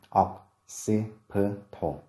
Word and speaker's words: occipital: tiết thứ nhất, còn trọng âm của occipital rơi vào âm tiết thứ hai. Từ đầu tiên occiput và từ thứ hai occipital, occipital.